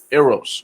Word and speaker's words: Eros: Recorded, so tell them this is Love Language Volume 1 Eros. Yes. Did I pronounce that correctly? Eros.